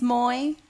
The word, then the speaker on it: Moy: hi my name is Moy can everyone say hi Moy yeah it rhymes with joy and toy and boy so you cannot forget